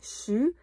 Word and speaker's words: je suis: On prononce pas je suis, on prononce suis, chu.